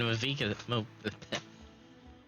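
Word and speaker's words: Mavuika: I meant Mavika. The way it's spelled and the way it's pronounced keep throwing me off, but it's Moika's side too.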